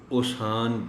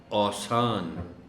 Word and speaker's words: اوسان: رہتا ہے۔ اب اگر الف پر زبر نہ ہو تو اس کو کوئی پڑھنے والا اوسان بھی پڑھ سکتا ہے، اس لیے زبر کا دیا جانا بہت ضروری ہے تاکہ اس لفظ کو درست تلفظ کے ساتھ پڑھا جا سکے۔ اوسان، اوسان۔ حکم، یہ